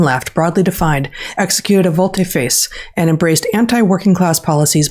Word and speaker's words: volte-face: I looked up how to pronounce this. A volte-face.